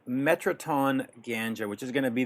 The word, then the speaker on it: In Ganga: You mentioned in an interview recently a band called Metraton Ganga, which is going to be this death metal band that you want to get involved with. Metraton, it's pronounced in Ganga. Ganga. Okay. In Ganga.